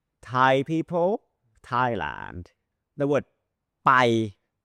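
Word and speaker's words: ไป: The word Pai, the word Pai means to go, Pai, short, like 1 second, Pai.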